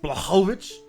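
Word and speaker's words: Błachowicz: it's pronounced Blachowicz.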